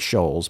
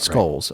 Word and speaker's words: Scholes: it's s-c-h-o-l-e-s and yes i looked up how to say her name it does it looks like shoals right skulls uh according to uh